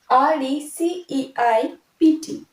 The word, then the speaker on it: receipt: এখানে দেখো P will be silent, RECEIPT, রিসিপ্ট নয়, it will be receipt, P pronunciation will be silent.